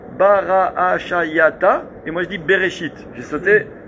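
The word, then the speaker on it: בראשית: Bereshit. Il est où le Aleph? Tu le dis pas. Le Yud, Shit, Bereshit. Le Yud, je l'ai pas dit.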